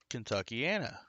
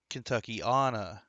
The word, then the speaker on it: Kentuckiana: So that area is called Kentuckiana.